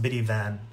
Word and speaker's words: Brivin: Brivin, and her name is pronounced Biddy Van, but she likes when I call her Brivin.